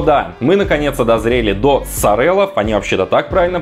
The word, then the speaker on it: Sorel: Но да, мы наконец-то дозрели до Сорелов, они вообще-то так правильно произносятся.